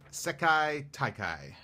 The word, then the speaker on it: Sekai Taikai: You pronounce it Sekai Taikai.